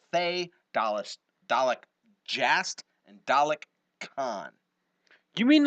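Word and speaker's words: Caan: And I think his name is spelled C-A-A-N. So maybe he's been pronouncing it wrong. It's and telling- Khan. So it probably is Khan.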